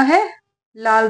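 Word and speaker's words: whole: कहते हैं ठीक है इसमें डब्लू जो होता है वह साइलेंट होता है एक होल अगर डब्लू हटा देंगे तो बना होल होल का मतलब होता है छेद लेकिन जब होल बोला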